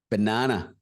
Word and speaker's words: banana: very easy popular word banana b a n a n a okay b b it goes like banana banana banana it's not banana not ba banana banana banana let's look